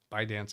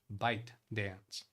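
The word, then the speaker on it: ByteDance: out a little bit by dance I think is the right pronunciation bite bite dance and bipartisan so Democrats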